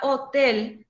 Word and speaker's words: hotel: n ni es entonces la palabra hotel no lleva acento gráfico pero al no llevar acento gráfico no quiere decir que no es una palabra aguda la misma cosa escribir